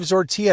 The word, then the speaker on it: Zortea: In the back seat, that is Zortia. It rhymes with tortilla.